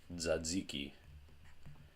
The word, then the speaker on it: tzatziki: or all kinds of things this is actually pronounced tzatziki because the the top Zita Greek that Zekey